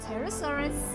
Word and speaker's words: pterosaur: flying animals called the pterosaurs. And when you look at the word, the way the word is spelled, at the beginning there is P, and that is a silent P.